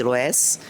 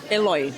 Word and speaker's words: Eloi: Inclusive, eu tava ontem batendo papo com a Denise Eloés. Eloés que pronuncia Eloi. Eloi, desculpe.